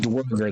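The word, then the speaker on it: Dvergr: It's D-V-E-R-G-R, but it's pronounced dwerger. The V is pronounced as a W.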